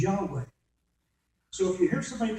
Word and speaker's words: Yahweh: But if they use it as a Y sound and the V as a W sound, they'll pronounce it as Yahweh.